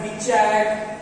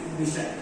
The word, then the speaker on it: Bichat: For heaven's sake, please don't call it as Bichat, Bichat. ठीक है, it is Bichat. CH is pronounced as sh.